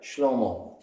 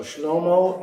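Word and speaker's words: שלמה: Anybody remember what garment sounds like in Hebrew? It sounds like Shlomo. So Shlomo is the Hebrew name for Solomon.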